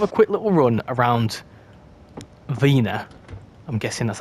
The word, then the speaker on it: Wiener: I'd spawn in at Vina I think it's called V it's definitely not WIA I know Matt pronounced it with a v as opposed to a w um yeah weener would be a funny